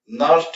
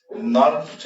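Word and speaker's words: Nernst: देखो जो ये इक्वेशन देख रहे हो, इसी इक्वेशन को हम लोग क्या बोलते हैं, नर्स्ट इक्वेशन बोलते हैं। नर्स्ट इक्वेशन, एन साइलेंट होता है, सिंपली नर्स्ट इक्वेशन बोलते हैं।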